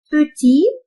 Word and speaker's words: petit: Petit, petite. Ici, le T, c'est muet, silent. We are not going to pronounce it. But after adding the E, we have to pronounce it. Petit, petite.